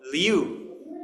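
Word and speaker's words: 六: L I U Leu. Yeah. Yeah. I I have trouble with that one. Yeah. So, so L I like Lee and then U is U. So, Leu.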